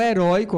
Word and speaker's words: heroico: são oxitonas já o heroico ol é heroico Professor heróico não tem acento não porque é para oxito n Note que a segunda sílaba que é mais forte heróico por isso que